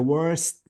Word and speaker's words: worst: فالتي اذا بدي استخدمها كسوبرلاتيف لازم تلفظ بوضوح. So I have to say it is the worst.